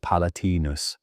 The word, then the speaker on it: palatinus: The word traces back to the Latin palatinus, pronounced palatinus, meaning of the palace.